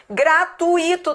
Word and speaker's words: gratuito: Gratuito tá certo? Não, porque a pronúncia não é essa. A pronúncia é gratuito. Gratuito e não gratuito. É gratuito. Isso aqui é um ditongo.